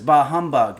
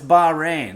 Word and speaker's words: Bahrain: Royal Flush 9 says, "I thought it was Bahamug." No, it's Bahrain. Like they don't want the rain.